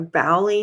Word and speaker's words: Boley: A bowy maybe. Let me make sure. I hate mispronouncing something. Jonathan bully discussion.